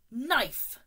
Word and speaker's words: knife: it's not connive no this one the K is silent knife knife good what do